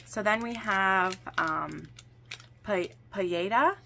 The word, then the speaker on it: paella: So then we have paella. I think you don't pronounce the L.